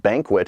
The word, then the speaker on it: BNQT: It is from a group called Banquet, and they spell that BNQT.